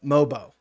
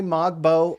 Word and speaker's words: Mogbo: him oayabaji and uh mobo if they if they don't if they say mobbo or uh ai uh abaji or something like that then you know they they haven't watched a game although you know